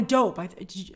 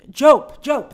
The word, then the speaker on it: Diop: I think Anna Diop is, or Anna Dope, Jope, that's the way to pronounce it.